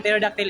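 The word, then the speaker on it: pterodactyl: i l so wrong siya ang spelling ng teroductyle is p t e r d a c ty y ll Silent P ang kwan kauna silent pee thank you thank you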